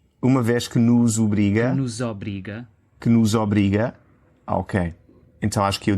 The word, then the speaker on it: obriga: Então acho que eu disse nos obriga, mas o segundo O é médio. É médio. Obriga. Nos obriga. Nos obriga. É médio, não é aberto, não é nos obriga e também não é nos obriga, é o de coco.